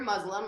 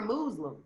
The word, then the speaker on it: Muslim: I was gonna ask you, is it Muslim or Muslim? What do you? No. It's Muslim.